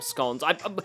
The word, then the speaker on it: scone: Okay, now I want scones or scon. They're pronounced scon in Australia.